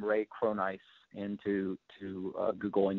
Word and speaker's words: Cronise: go for there just put my name Ray cron ice into to uh Google and you'll find lots